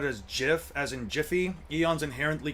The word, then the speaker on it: GIF: The creators of gif did say you're supposed to pronounce it as gif as in jify eons's inherently correct.